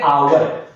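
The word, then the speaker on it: hour: इसको क्या पढ़ते हैं होवर होवर ये होवर नहीं होता है एच क्या होता है साइलेंट होता है इसको कैसे पढ़ते हैं आवर क्या पढ़ते हैं आवर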